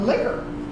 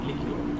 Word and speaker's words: liqueur: A liquor. Not liquor, but liqueur.